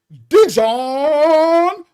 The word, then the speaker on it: Dijon: I had never heard his name pronounced Dijon. Now remember, we in Canada, that's French. His name is French, so they speaking it correctly, right? So we in the hood call him Dion, right?